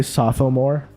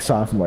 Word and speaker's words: sophomore: sophomore you don't say sophomore you just kind of say like sof like with an F the pH is like an f and it's like sof more that's how you say